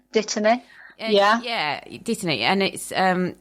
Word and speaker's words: dittany: a herb, and I don't know how to pronounce it. I've been calling it Dittender, but I don't know if that's correct. Dittany.